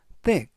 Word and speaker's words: thick: 뜻이 되겠습니다 이번 단어는 thick thick라고 발음하시면 되겠고요 이때는 번데기 발음으로 발음하시면 되겠습니다 그래서 뜨 품사는 형용사